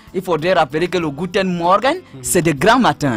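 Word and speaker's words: Guten Morgen: c'est-à-dire vers 6h euh lorsqu'on se lève c'est guten Morgan et il a dit que gûen s'écrit g u T e n donc pour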